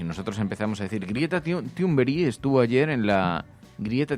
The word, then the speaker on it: Thunberg: No se pronuncia ni Greta Thunberg, ni Greta Thunberg, ni Great Thunberg, ni Great Thunberg, no. Se pronuncia Greta Thunberg.